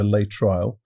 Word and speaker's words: Laetrile: I believe it's pronounced Laetrile, but also Laetrile, and it's also called amygdalin, or vitamin B17.